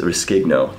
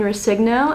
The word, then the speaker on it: Rescigno: Rescigno. Did I pronounce that right?